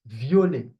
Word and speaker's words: violet: It's vi vi okay vi the t is not pronounced v.